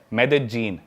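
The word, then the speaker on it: Medellín: उसकी एक सिटी है मेदजीन। स्पेलिंग में उसमें डबल एल आते हैं। मेदलीन होता है। लेकिन कोलंबियन स्पेनिश में ल को ज बोलते हैं।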